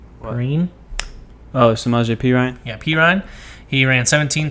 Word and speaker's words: Samaje Perine: Oh, Samaje Perine?